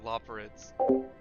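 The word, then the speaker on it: Loporrits: Garrett, how do you pronounce the race's name? Loperids? Okay, Loperids.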